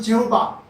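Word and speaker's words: Jehovah: 영어로 말하면 제호바, 이거 갖다가 히브리어 원문으로 말하면 야훼, 발음이 야훼 하나님을 얘기하는 겁니다.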